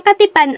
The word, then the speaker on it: katipan: ng batas ng kasal ang tamang pagbigkas ng salitang katipan ay ka tipan ang unang pantig ay bigkas na ka na may malambot na tunog na a ang ikalawang pantig ay